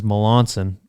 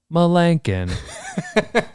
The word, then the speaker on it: Melancon: Jeremy's last name is Melancon, but Procom, when you call back for callbacks, pronounces it Melancon.